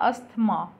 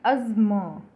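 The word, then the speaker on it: asthma: So next word है, इसे हम बोलते हैं अस्थमा नॉर्मली, पर ये इसकी करेक्ट प्रोनाउंसिएशन नहीं है। इसका करेक्ट प्रोनाउंसिएशन है अज्म, अज्म।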